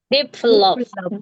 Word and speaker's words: Develop: Vowelnya tepat, stresnya yang sekarang tidak tepat.